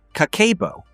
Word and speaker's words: Kakeibo: Kakeibo, pronounced kakeibo, is a budgeting method developed in 1904 by Hani Motoko, Japan's first female journalist.